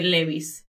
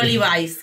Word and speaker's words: Levi's: Aquí en España, en familia, se dice Levi's. No Levi's, que suena muy bien, se dice Levi's.